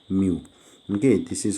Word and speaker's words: mu: called refractive index denoted by this later called mu okay this is how we'll draw here and a u here so this is what we call mu m e w mu this is the pronunciation and here this is now called as